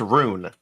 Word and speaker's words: RuneScape: He's saying He's saying Ruin and it's Rune.